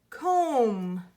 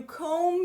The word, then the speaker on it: comb: our good about this comb you comb your hair nicely comb do you hear Oh hmm but do you comb but or is it just usually comb good our B is silent here comb but about watch